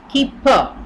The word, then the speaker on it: Kuiper: Charon what is super built the Kuiper belt keep for it is pronounced belt is often called our solar system's